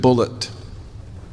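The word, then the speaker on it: Bulliet: He spells his name B U L L I E T and he pronounced it bullet. He corrected me. He said, "No, my name's not Bouier, it's Bullet."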